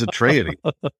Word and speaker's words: Atreides: You nailed it on the first try. It is Atreides.